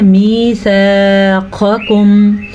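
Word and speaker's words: ميثاقكم: مِيثَاقَكُمْ قاف کو 2 قسم کے قاف ہے, پہلا قاف موٹا اور دوسرا باریک, تو ہم نے اس کو پڑھنا ہے میثاقکم ان کنتم مؤمنین.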